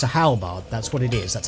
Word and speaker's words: halberd: people who calls it how beard like it's got an e in it rather than two A's it is pronounced halberd